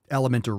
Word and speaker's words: LMNT: Redmond relight and also element which sounds like the word element but it's lmnt obviously for that same reason